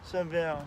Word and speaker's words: Sibille: Sibille.